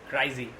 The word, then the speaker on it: Kryze: And Bo-Katan Kryze, but I actually prefer my pronunciation, Kryze.